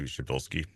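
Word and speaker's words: Przybylski: Australian astronomer named Anthony Shabilski. And it don't ask me to spell that because it's I I was told by a Polish person this is how you should pronounce this you know and um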